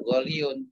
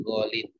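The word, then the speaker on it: غالٍ: Artinya kalau kita ingin menggunakan kata mahal untuk mudzakkar, maka bacanya bukan ghaliyun tapi ghalin.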